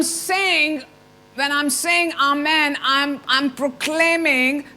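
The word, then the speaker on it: אמן: but faith begins we the word आमान which which is also pronounced S अमोना और आन सो ए्री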